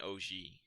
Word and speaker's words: Ouji: Wait, how do you say? Is it No, you got it. OG? Okay. OG.